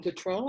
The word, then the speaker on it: Gautreau: I don't know how to speak French, but it's Madame Gautreau, I think is how you say her last name.